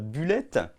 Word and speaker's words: Bullet: Ouais, je vais le prononcer à la française, Bullet.